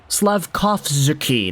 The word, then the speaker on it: Slafkovsky: Slafkovsky, that's kind of the more phonetically correct way to say it, because when we're talking